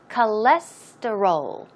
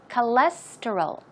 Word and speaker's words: cholesterol: time pronouncing this word the stress goes right here on the second syllable so it's cholesterol cholesterol cholesterol cholesterol okay faster cholesterol